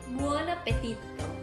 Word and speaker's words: Buon appetito: you have to say "Buon Appetito!" It consists of two words "Buon" and "Appetito!" But it's pronounce like one word "Buonappetito!"